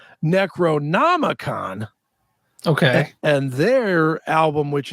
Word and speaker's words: Necronomicon: so I don't say it wrong right it's Necronomicon any c-r-o-n-o-m-i-c-o-n Necronomicon like I said not a great book they